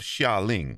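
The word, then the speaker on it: Xialing: First sin I'm giving you is for that horrific pronunciation of Xia Ling that you pronounced with a J.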